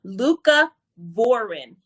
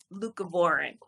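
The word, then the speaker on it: leucovorin: don't know if you don't know let me spell it for you luca voron is l-e-u-c-o-v-o-r-i-n luca voron and it was something that i took time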